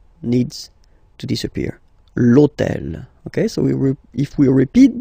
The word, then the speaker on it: l'hôtel: starts with H, but remember that in French we don't pronounce H, okay, so basically the first sound of the word is the vowel O, okay, so for the